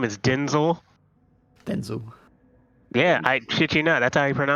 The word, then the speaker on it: Denzel: that's that is so UNT his name is Denzel Denzel yeah I you not that's how he pronounces it Denzel yeah I've heard it yeah